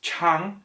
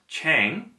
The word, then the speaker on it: chang: pronunciation is not Pyongyang it's not a long a like rang I rang you up that's not the correct vowel sound the correct valve sound is ah so it's Chung not Qiang and when you combine